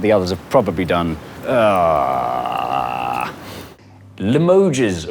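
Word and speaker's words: Limoges: others have probably done limoes or Lio or limo I don't know how to say it it's it's Lio if it's from sorry the French it's French fault the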